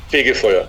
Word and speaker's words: Fegefeuer: the album uh I know the last part is like fire almost of fig fire yeah it's figy fire figy fire okay for do you